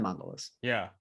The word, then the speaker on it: mandala: what he's doing, even the tool that he's using, this is how the Tibetans do the sand mandalas. Yeah. Yeah. Is it pronounced mandalas?